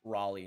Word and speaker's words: Raleigh: As a Raleigh native, it's pronounced Raleigh, not Raleigh. Okay.